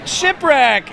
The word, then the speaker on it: Shipwreck: rhymes with okay um it rhymes with hip check like in hockey shipwreck Aunt gets it you